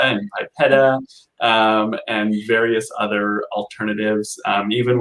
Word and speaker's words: PIPEDA: But can you provide our audience with the definition of PIPEDA? And how to pronounce it and kind of the trick of how to pronounce it.